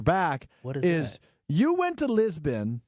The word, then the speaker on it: Lisboa: Something we couldn't talk about until today, now that you're back, is you went to Lisbon. Lisboa. Lisboa. Yeah, that's how literally how you say it.